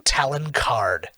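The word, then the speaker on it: Talon Karrde: again was his name talon card talon tal yeah like like an eagle talon ah okay okay and then card like a card and uh i didn't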